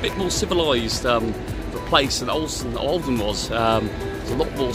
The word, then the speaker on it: Ålesund: So it's Ålesund, as what the locals pronounce it.